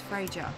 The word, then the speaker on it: Freja: My name is Freja. It's Freya. It's just Freya. Okay. You don't have to pronounce the J. Swedish, I think. Because sometimes they just don't have the J.